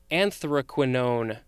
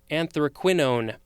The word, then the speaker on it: anthraquinone: perfumes next we have anthraquinone could also be anthraquinone a-n-t-h-r-a-q-u-i-n-o-n-e this is a